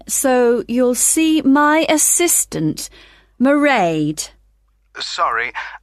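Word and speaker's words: Mairead: be working then so you'll see my assistant marade sorry how do you you spell that it's m a i r e a d marade okay got that it's not a name I'm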